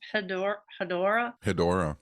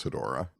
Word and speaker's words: Hedorah: with, I don't know how to say this, Hedorah.